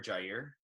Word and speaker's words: Jair: It has a little accent on the I. I dig it, man. I prefer it too, personally. So I prefer Jair.